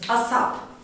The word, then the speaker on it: ASAP: Asap. As soon, soon yakında, kısa zamanda demektir. As soon as possible, mümkün olduğu kadar kısa zamanda. Hemen, bir an evvel, mümkün olduğunca çabuk anlamında kullanırız. ASAP diye okunur.